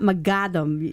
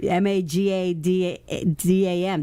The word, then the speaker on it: Mohaddam: doctor you know the H is silent is you know it's not my Gotham ma GA da da M that's how you pronounce